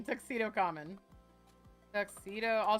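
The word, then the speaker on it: 仮面: it's Tuxedo Mask but in Japanese it's tuxedo common because common means mask in Japanese so they called him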